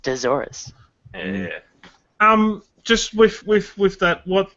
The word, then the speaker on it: Deathsaurus: It's pronounced Desaurus.